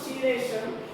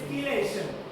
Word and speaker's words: chelation: It is not chelation, it is chelation. Chelation, not chelation, right? Chemistry is not chemistry, right? This is not a chemistry, right? You won't pronounce this as a just like chelation. It's not chemistry, it's chemistry. K, we are pronouncing as a K, right? Yeah, this is also K only.